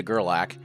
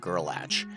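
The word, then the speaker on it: Gerlach: Well, here we are rolling into Gerlac. I always say the name wrong. I see the ch at the end and assume there's a T in the name and make it Gorlatch.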